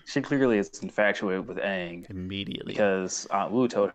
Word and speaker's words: Aang: I found Meng really funny also in her and Aang's interactions or lack thereof. Like her first interaction with him was like, "What's your name, Aang? Oh, that rhymes with Meng.